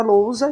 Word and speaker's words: lousa: Para lousa, que a tônica é low, mas ela não recebe acento.